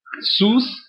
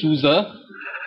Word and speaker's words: SUSE: So the pronunciation, it could either be Suza, Suza, right? But definitely not Susie, Sus, right?